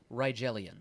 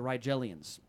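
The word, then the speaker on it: Rigellians: Ryelians. All right. The Rielians.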